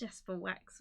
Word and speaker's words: JasperWackx: My name is JasperWackx, pronounced JasperWackx with an S. But it is an X, because emo at heart, you know.